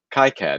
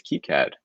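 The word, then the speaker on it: KiCad: to pronounce k-i-c-a-d because i always say kai-cad and i heard him say key cat and it turns out brian's right it's key cad it is okay so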